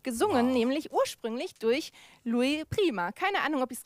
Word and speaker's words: Louis Prima: Nämlich ursprünglich durch Louis Prima. Keine Ahnung, ob ich es richtig ausgesprochen habe. Salva, hilf mir mal bitte. Louis. Oh, Louis Prima.